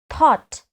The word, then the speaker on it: thought: loudly okay tsou GST not thout thought all of you say it again thought repeat it again thought